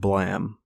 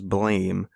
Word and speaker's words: Blame!: that this is how blam was spelled in english i think that's that's what the story is and that's why it's spelled like this but it's pronounced blam last i checked and